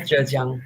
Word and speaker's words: Zhejiang: Bruno Betzen is an assistant professor in the School of Philosophy at Zhejiang University in China. I think it's pronounced this way. Correct me if I'm wrong. Yes, right, Zhejiang, yes.